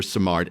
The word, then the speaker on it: Simard: Um, we're very thrilled to welcome Jennifer Simard.